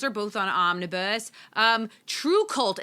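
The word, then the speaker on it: TRVE KVLT: both on Omnibus um true cult it's spelled funny it's spelled t r v e k v LT but that's on ominous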